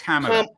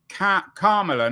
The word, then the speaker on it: Kamala: So it's comma, like you don't have a comma. Kamala, not Kamala. Kamala. Okay, well, I'll try and get the it right punctuation next time you're comma. on. Perfect. Kamala, not Kamala.